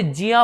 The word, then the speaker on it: ज्ञ: इसलिए शायद आपने कभी ध्यान दिया हो कि बुजुर्ग व्यक्ति जो है वो इसको ज्ञा नहीं पढ़ते, वो उसे जिया पढ़ते हैं। जिया, क्या पढ़ते हैं, जिया। क्यों, क्योंकि उनका उच्चारण बिल्कुल सही है।